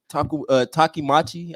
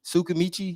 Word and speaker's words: Tsukimichi: So I'm gonna have to go with Takimachi. I think that's how you say it. Takimachi. The one I'm talking about. Yeah. Sukamichi. Tsukimichi. Oh, okay. Yeah. Tsukimichi. Or is it Sumichi?